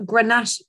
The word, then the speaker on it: Grenache: you pronounce that grantaxa well it's actually got grenache well it's garnacha but um obviously it's in chilean rather than than spanish so yes grenache but garnacha would be the spanish and and therefore this